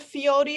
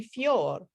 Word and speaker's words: fior: the third version have fiori or fjor i am now totally convinced that it's wrong the word is it should be fjor to rhyme with amor and to go with